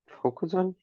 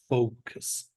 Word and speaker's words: focus: to put in with Focus no put in withth include ex include which of these means to concentrate on Focus pronunciation focus and it's like kiss at the end okay focus a awful